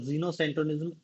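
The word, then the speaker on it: xenocentrism: और जीनोसेंट्रिज्म एक्स से भी इसकी स्पेलिंग XENO, दोनों स्पेलिंग मिलती है। ये भी जीनोसेंट्रिज्म पढ़ते हैं, इसको भी जीनोसेंट्रिज्म ही पढ़ रहे हैं।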